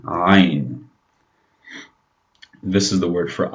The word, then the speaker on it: ayn: Now let's move on to the next letter, the ayn. Now this one is very hard to pronounce for non-Arab speakers. The ayn, ayn.